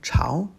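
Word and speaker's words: 巢: Second tone, Chao.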